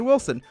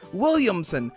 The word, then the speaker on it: Williamson: I almost said Wilson. Williamson.